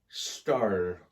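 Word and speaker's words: Stahr: I hope I butchered it there. Celia Starr, S-T-A-H-R.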